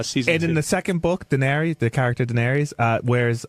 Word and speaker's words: Daenerys: I just How do you pronounce it? Daenerys.